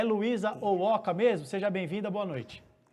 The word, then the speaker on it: Owhoka: Você faz a pergunta e eu acho divertido porque as pessoas geralmente se confundem e elas americanizam, né? Então o H vira R, o H vira X.